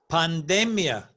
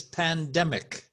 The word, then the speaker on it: pandemic: Catholic Catholic I heard the word panda Mia no it's in English is pandemic pandemic in Spanish we say the Panda Mia and 30 I think